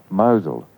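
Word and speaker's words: Mousehole: of the hill Newland why do they call the place that is spelled mouse hole mosul well the Muslim people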